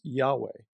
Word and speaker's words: Yahweh: So why don't we see YHWH, often pronounced Yahweh, in our English Bibles?